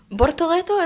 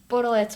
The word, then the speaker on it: Bortoleto: speaking of Sauber, Bortoleto, is that how you pronounce it?